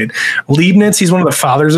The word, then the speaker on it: Leibniz: whoever made this i think it was um lebanese leibniz that's how you say it leibniz he's one of the fathers of calculus he